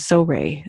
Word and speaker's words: Zohreh: And she would tell people, my name is Zohreh, like Zo as in not zoo, but Zo, and Ray like a stingray.